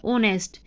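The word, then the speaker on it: honest: इज एन ऑनेस्ट person इसमें H silent है और ओ की साउंड आ रही है ऑनेस्ट तो हम एन यूज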